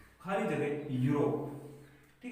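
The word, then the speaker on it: Europe: लेकिन जब आपने इसका उच्चारण किया कि इस स्पेलिंग को बोलते क्या है, तो आपने इसको लिखा यूरोप, आपने बोला यूरोप, यू यू यू क्या ये क्या है, ये एक व्यंजन है, तो आपने भर दिया यहाँ पे ए।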